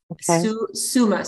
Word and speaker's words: suma: about the plant Suma Sumer root can you spell that so s-u-m-a Summa so S as in Sam Summa root Summa